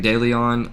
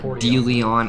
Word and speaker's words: De Leon: They had a bunch of local towns including Deleon or Dion as he says.